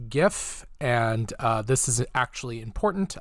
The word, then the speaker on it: GIF: together now a quick aside it is actually pronounced gif and this is actually important otherwise I wouldn't